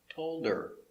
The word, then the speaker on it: told her: Pronunciation, the H is silent because it's not stressed. Told her, told her, told her.